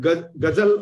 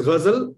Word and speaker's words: ghazal: will find it that since you said gazal or something like that that is why I I pointed out what is anupta so you correct this aspect it's it's very simple it is Ghazal so it has to be pronounced like one only okay number one number